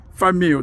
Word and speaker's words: Fameux: Search for that petition under her name, Cassandra Famu. The last name is spelled F A M E U X and sign that petition.